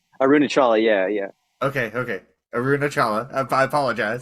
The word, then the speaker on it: Arunachala: make a mental note not to correct people's pronunciations, because it's just so condescending. It's arunachala.